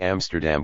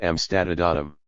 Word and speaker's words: Amsterdam: Instead of Amsterdam, it came out Amstadum.